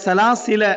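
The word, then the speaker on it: سَلَاسِلَا: வந்து ஒரு வட்டம் இருக்கு அந்த வட்டம் என்னன்னா நீங்க சேர்க்கிற டைம்ல இதை உச்சரிக்காதீங்க சேர்க்கிற டைம்ல இதை உச்சரிக்காதீங்க சலாசில வகுலால சலாசில அப்ப அந்த அலிஃபரிக்கல பாருங்க சலாசில நிறுத்துனீங்கன்னா சலாசிலா அப்படின்னு இன்னது சலாசிலா அப்படின்னு என்ன செய்வோம் நம்ம நிறுத்துவோம் நிறுத்துற டைம்ல உச்சரிங்க நிறுத்தாத டைம்ல உச்சரிக்காதீங்க அதோட அர்த்தம் அதே சூரால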